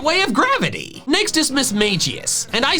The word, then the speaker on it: Mismagius: The official pronunciation, which is mismagius. Mismagius. The hard G is ridiculous.